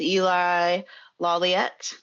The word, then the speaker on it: Eli Lawliet: We're here with Eli Lawliet, is that correctly pronounced?